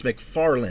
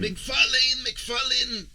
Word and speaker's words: MacFarlane: you're mispronouncing his name it's mcfarlane mcfarland tomato tomato okay let's get